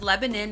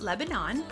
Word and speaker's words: Lebanon: brief summary of lebanon new hampshire it is pronounced lebanon and not lebanon and there is another one in maine so